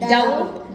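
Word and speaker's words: doubt: इसका जो बी है वो साइलेंट है। जो इसमें वर्ड आया है उसका बी साइलेंट है। डाउट। इसको कैसे बोलते हैं? डाउट। डी ओ डॉ उ यू की क्या आ गई उ बी हमारा क्या है साइलेंट साइलेंट और टी लगा तो क्या बन गया डाउट अबाउट द fat that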